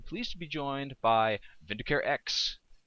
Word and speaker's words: Vindicare: Yeah, it's Vindicare, and I just slapped an X at the